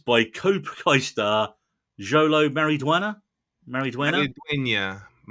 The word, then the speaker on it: Maridueña: Headlined by Cobra Kai star Jolo Mariduena. Mariduena. Right. Jolo Maridueña.